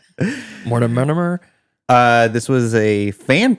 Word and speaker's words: Mortimer: I know Gillespie and Mortism. Mortimer.